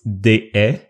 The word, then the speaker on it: Deshaies: if you want to practice your French, it's Deshaies, because if you say déchet in French means trash.